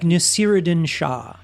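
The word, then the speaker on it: Naseeruddin Shah: It's like Nasiruddin Shah.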